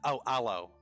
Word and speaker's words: aloe: Oh, aloe. Beg your pardon. Sorry. Aloe. Okay. Yeah. The E is pronounced.